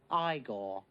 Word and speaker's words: Igor: In the movies, this is the part with Igor, by the way, his little henchman. No, it's pronounced Igor.